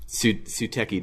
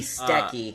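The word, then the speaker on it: すてき: It'd be Steki, actually. It's funny, Suteki is really how the singer sings it, but that's because she's singing it. Well, yeah, when you sing it, you pronounce all the syllables, like, fully. Gotcha. Unless it's you're singing really quickly, but... Right. Yeah, it would be Steki.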